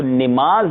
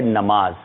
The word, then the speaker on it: نماز: تو نماز جو ہے یہ تلفظ درست نہیں ہے. صحیح تلفظ کیا ہے آئیے دیکھتے ہیں اسکرین پر. جی نماز کی بجائے صحیح لفظ ہے نماز.